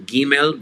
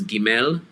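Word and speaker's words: גימל: If it's 2 syllables, lean on the first syllable, as in Gimel versus Gimel, or Dalet instead of saying Dalet. So Aleph, 1 syllable, Hey, 1 syllable, but where there's 2 syllables, lean on the first syllable for the accent.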